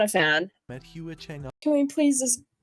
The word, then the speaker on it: Hua Cheng: Met Hua Cheng up. Can we please just give a moment to just F in the chat for Hua Cheng? It's supposed to be Hua Cheng.